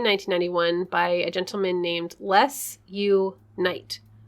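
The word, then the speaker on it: Les U. Knight: named les you knight pseudonym intending to sound like the form the founders most ardent wish let's unite oh i thought it was supposed to sound like less no like no like less people no less l-e-s you period night spelled like a medieval knight let's unite okay according to les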